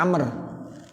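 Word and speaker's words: عمرو: Nah namanya Amr. Namanya siapa? Amr. Kalau Amr itu pakai wawu ya tulisannya. Kalau enggak pakai wawu bacanya apa? Umar.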